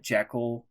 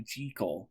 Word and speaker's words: Jekyll: did you know that jekyll isn't even the correct way to pronounce it it's actually jiggle sorry i know a